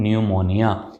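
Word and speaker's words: pneumonia: जैसे एक शब्द है न्यूमोनिया। अगर आप स्पेलिंग देखेंगे, बोलने में न्यू से शुरू होगी, स्पेलिंग देखेंगे तो पहले पी आता है।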